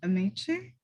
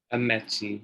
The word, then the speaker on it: Amechi: Is it Amici? Amechi. It's a Nigerian name.